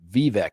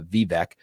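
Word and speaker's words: Vivek: Westminster did saying that it's pronounced v as in the letter V and VEC v e k okay I'll take that uh vivec is that he's uh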